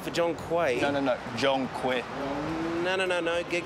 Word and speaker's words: Quay: Oh, Q-U-A-Y. That's Quay. It's pronounced Quay, not Quay. The spelling's confusing.